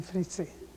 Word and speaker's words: Fritzi: a nickname people call me by the name fritzy uhhuh how would you spell that f r i tzr and what is